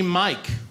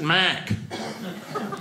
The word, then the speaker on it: Mike: So she named me Mike, but she pronounced it Mac.